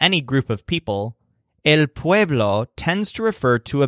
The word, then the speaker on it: pueblo: this represents the word Pueblo with a stress on wave remember that Joel's bees sound a lot like his V's so the stress syllable sounds like wave but the word is Pueblo Pueblo essentially means people